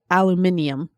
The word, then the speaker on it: aluminium: and soon you know aluminum is supposed to be Alum Al aluminium it has the eem just like every other element thing but we decided